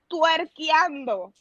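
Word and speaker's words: twerkeando: But it's similar like English, but we say it like twerkiando.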